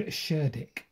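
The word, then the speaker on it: Cerdic: around about 580 ad um a man called sherck and I pronounced that correctly believe or not now that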